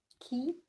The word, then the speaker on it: qui: Qui, this one. Qui. So it sounds key, yeah, key or key, like a key.